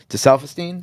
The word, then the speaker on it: Gesaffelstein: And I don't want to say the producer's name wrong. Gesaffelstein?